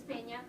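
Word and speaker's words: Peña: It's Pena. Sorry. Pena, thank you. Pena. Yes. Pena, The N Pena. has a little type of thing.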